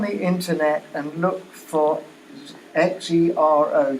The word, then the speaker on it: Xero: Go on the internet and look for Xero, Xero, and it would solve 99% of all the